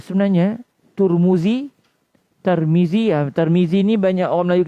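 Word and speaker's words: الترمذي: Dan boleh juga baca Tirmizi. Tirmizi. Kalau di Mesir biasanya disebut At-Tirmizi. Guru-guru kami biasa sebut At-Tirmizi. Cuma di Malaysia kita biasa dengar At-Tirmizi, dan itu juga betul cara bacanya. Dan ada satu lagi At-Turmuzi, At-Turmuzi.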